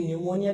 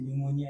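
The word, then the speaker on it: pneumonia: अब ध्यान ये रखना है कि न्यूमोनिया की स्पेलिंग होती है वो पी से शुरू होगी, जैसे साइकोलॉजी है तो पी से शुरू होता है ना।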